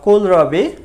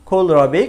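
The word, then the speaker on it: kohlrabi: ওলকপিকে আমরা বলেছি কোলরাবি বা কোলরাবি, কারণ আমরা নেটিভ স্পিকার অনেক সময় কেটাকে সাধারণত খ উচ্চারণ করে, সেখানে কোলরাবি বলে।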